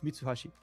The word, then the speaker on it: Mitsuashi: Hey, but it's me to So, but to pronounce in Japanese, so to ha. And then four in Japanese is she. And this is why he write it this way. It's Mitsuashi.